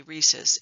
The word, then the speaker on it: rhesus: actually comes from the the name of the monkey Reese's because it's spelled r-h-e-s-u-s so that's what we